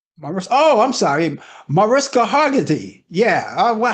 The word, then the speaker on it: Mariska Hargitay: The actress that played on that series, how do you pronounce her name? I'm sorry. Mariska Hargitay.